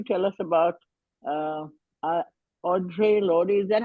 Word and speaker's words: Audre Lorde: So So today, Yasmin, you're going to tell us about uh, uh, Audre Lorde. Is that how you pronounce it? How do you yes, pronounce? Audre Yes, Lorde. Audre Lorde.